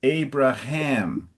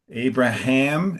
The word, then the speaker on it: Abraham: And so where So it's Abraham. Abraham and I didn't hear the ham. So Abraham and then the name of the Hittite is Ephron.